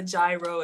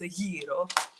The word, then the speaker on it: gyro: it it's not a gyro it's not a guo it's AO on the coastline so again